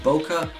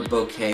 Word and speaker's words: bokeh: whether you pronounce it Boca or bouquet we're all talking about the same thing when you have shallow